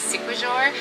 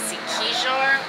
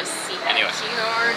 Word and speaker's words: Siquijor: If I was pronouncing it the way it's spelled, it would be Siquijor, but apparently it's pronounced Siquijor or Siquijor.